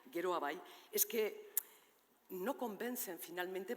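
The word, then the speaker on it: Geroa Bai: Claro votaremos en contra en nombre de guero abay que es como ena se pronuncia guero abay es que no convencen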